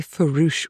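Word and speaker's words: farouche: The first thing he said was talking about Margaret, "She has been very foo with me for a long time." And it's spelled f a r o u c h e.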